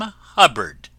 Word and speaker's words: Hubbard: friends this is wonderful Dame Hubbard name that always rhymes with cupboard ever going out to